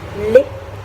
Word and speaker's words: lait: Yes, T, obviously in French we do not pronounce the last letter, so it's pronounced as lait.